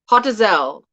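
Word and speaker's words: Hotazel: a z-e-l but you when you say it it's hot as l it sounds like hot as hell but it's called hottest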